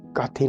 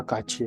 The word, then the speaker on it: 같이: लेकिन ये काथी का उच्चारण काथी नहीं होगा, इसका जो उच्चारण होगा काची होगा, काची। क्यों होगा? जब भी था पाश्चिम के बाद में अगले वावल में ई आ रहा है तो था की ध्वनि छा में बदल जाती है।